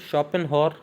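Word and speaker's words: Schopenhauer: उसके बाद शॉपेनहॉर और नीट्शे, ये दोनों लोग जो हैं, इसको हम शॉपेनहॉर प्रोनाउंस करेंगे और नीचे वाले को नीट्शे।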